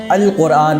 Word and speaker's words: القرآن: تلفظ کیا جائے گا۔ فار ایگزامپل، لفظ قرآن، اب چونکہ قاف حرف قمری میں سے ہے لہذا الف لام آنے کی صورت میں الف لام کے لام کا بھی تلفظ کیا جائے گا اور اب قرآن کے بجائے القرآن پڑھا جائے گا۔ سو ڈیئر ویورز، اس